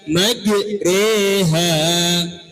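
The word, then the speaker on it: مجريها: Majroha, dibaca majreha.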